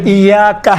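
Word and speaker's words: إياك: توجہ، ایاکا ہے، ایاکا۔ اب یہاں پر ایاکا میں یہ کون سا حرکت ہے؟ چھوٹے حرکات ہیں یا بڑے حرکات میں سے ہیں؟ چھوٹے۔ آپ دیکھیں تلفظ کرتے وقت انشاءاللہ تعالیٰ یہ ملحوظ نظر رکھیں، ایاکا نعبد و ایاکا، کا نہیں ہے، کا نہیں ہے، ایاکا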